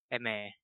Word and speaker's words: Aimer: Eme, is that how it's pronounced? Eme. Yeah. French. Eme. Okay.